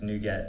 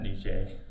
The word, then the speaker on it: NuGet: Like I'm fine with nupkeg but uh I think it's new get not new J.